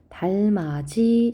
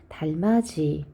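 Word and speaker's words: 달맞이: 맞출 수 있어야 돼요 3번에 보면 달마지 자 이렇게 발음하는 것이 맞고요 발음하는 이유는 지이 뒤에이라는 모으로 시작하는 형식 형태소의 연음이 돼서 달마지 즉 연음에 의한 것이니까 구개음화가 아니어서 디귿 해당하지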